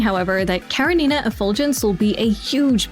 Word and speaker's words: Karenina: Karenina is, to my understanding, a Slavic name. While it was pronounced like that early in PGR's English dub, the official dub eventually switched to Karenina.